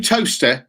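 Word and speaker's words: Towcester: even can you do toaster in your little thing as well because linda's going toaster for toaster i'm going toaster okay is that is that how it's spelt that's t-o-w-c-e-s-t-e-r test says you're near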